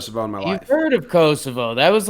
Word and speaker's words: Kosovo: my country proper swing I never heard of Kosovo right well you that's not a place cuz it's Kosovo you've never heard of that either yeah hey